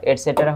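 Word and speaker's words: et cetera: এখানে এই মাঝখানের ইটাকে একটু উচ্চারণটা কম করা হয়, এটসেটেরা। এটসেটেরা উচ্চারণ হবে এটসেট্রা।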